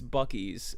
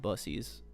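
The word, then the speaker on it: Buc-ee's: Like uh it's it's Bies, but it's spelled B U C C Epostrophe S, but a lot of people just call it Busies.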